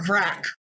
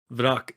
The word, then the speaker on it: Vrak: Yeah, it's not Vrak. Vrak is Bach.